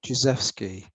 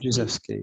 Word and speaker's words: Jezwski: people say it many ways, but I say Jezewski. Jezwski. Jezewski.